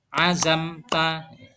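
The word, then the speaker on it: عزمت: kita juga menemukan azamta ini disebut izhar syafawi yaitu dibaca secara terang atau jelas tidak boleh mendengung azamta azamta kita juga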